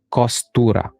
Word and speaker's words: Costura: So, punta na tayo dun mga Kaloys sa kay Kustura. Okay? Kostura. Okay, yun yung pag-pronounce.